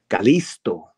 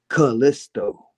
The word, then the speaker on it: Kalisto: And I was trying to see how can it be pronounced in Spanish and how can it be pronounced in English. Calisto, Callisto.